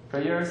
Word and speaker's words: prayers: Prayers is always two syllables in these, just so you know.